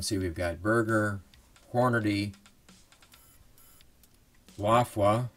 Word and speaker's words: Lapua: We can see we've got Berger, Hornady, Lafua, or Lapua, as it's pronounced in the U.S., and Sierra.